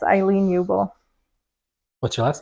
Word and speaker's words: Uebel: So yeah, it's Aileen Uebel. What's your last name? Uebel. Uebel? In German, you pronounce it Uebel, but that's a train wreck here.